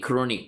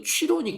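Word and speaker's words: chronic: 그런데 크로닉 발음 이거 취로닉 그러면 안 돼. 크로닉이야.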